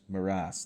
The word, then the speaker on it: morass: this this very inextricable morass or Morris whatever it is morass that's how you say it it's very inextricable